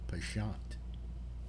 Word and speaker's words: penchant: misinformation for truth pension penchant yeah or if you're if you're really snotty and you want to say it correctly you go pashant oh excuse me it